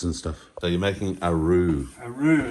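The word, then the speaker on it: roux: when he cooks and stuff so you're making ARO ARO it's spelled r o u x French word basically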